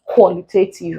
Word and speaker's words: qualitative: Another question we have here we're going to stress the first syllable. What's the end with IVE? We mostly stress them on the first syllable. No need to count anything here. We just have qualitative as our answer.